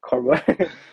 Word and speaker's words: Corbeau: Me at first, I was saying like my name wrong, but yeah, eventually I was like, okay, it's Corbeau. Searched it up on Google how to Is pronounce it it.